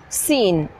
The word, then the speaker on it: scene: Scene.